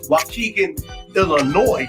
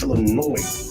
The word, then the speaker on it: Illinois: time I called it Wan Illinois but but there's no e so you don't pronounce the S it's Illinois I'm Ill I'm Ill